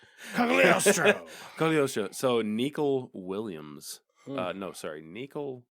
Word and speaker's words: Cagliostro: Because the G was silent, I believe. Cogliostro. Cagliostro. Oh, was the G not silent? Yeah, it's not silent. No silent G? Cagliostro.